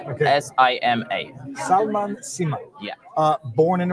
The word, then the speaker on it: Sima: My name is Salman Sima. How do you say it? Salman, S-A-L-M-A-N, okay. S-I-M-A.